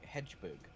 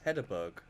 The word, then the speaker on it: Hedberg: It's what you say when Hedgeberg. It's Hedberg.